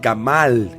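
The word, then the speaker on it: גמל: maduración y culminación y la palabra es gamal con acento en la segunda a una palabra que su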